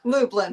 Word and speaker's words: Lublin: Lublin, but close enough.